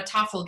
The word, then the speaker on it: Tafl: was, well, is it a piece from a Tafel game? And that's spelled Tafl.